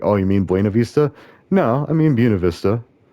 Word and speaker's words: Buena Vista: And so, I know people say it Buena Vista, but that's one of the things of the locals is like the locals say it Buena Vista. Just like you don't say Los Angeles. Like nobody says Los Angeles.